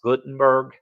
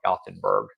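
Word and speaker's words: Gothenburg: used to go to I think it's supposed to be pronounced Gutenberg uh Sweden but I we always called it gotenburg because again I got that southern going on hey Patricia go morning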